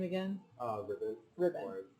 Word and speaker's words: Rybbon: Rybbon. Rybbon. Or people always pronounce it as Rybbon because it's spelled with a Y.